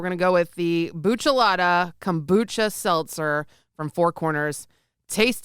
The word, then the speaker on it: kombucha: gonna try we're gonna go with the buchalata kombucha seltzer from four corners taste it tell me